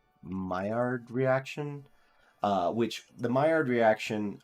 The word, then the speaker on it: Maillard: It is Maillard, the Maillard reaction. That is how you pronounce it, but that is not how you spell it.